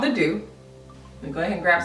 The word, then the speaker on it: The Doux: about their hair care products so it's called the do let go ahead and grab some more and that's how you pronounce this brand it's called the do and I do you get it I do